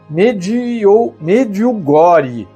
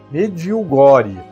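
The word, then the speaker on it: Medjugorje: Se escreve Medjugor, mas se pronuncia mediugore. Mediogori.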